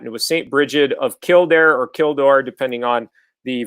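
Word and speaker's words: Kildare: for doing that it was St Bridget of kildair or Kor depending on the various translations you find but usually pronounced kildair and St Bridget is an interesting individual because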